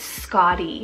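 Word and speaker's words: Scottie: it means princess another s name here is Scotty it's about SC o t t i e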